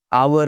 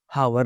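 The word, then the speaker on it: hour: आवर होता है, हावर नहीं होता।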